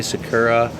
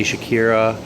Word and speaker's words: Sakura: it and I laughed the first time I read it like in my head I said Shakira like Shakira the artist so now whenever I say Sakura I say Shakira or Shakira or I say it wrong so I know I'm